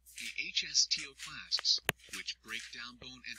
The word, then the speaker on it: osteoclasts: that help form the new bone; and osteoclasts, pronounced osteoclasts, which break down bone and help to sculpt and shape it.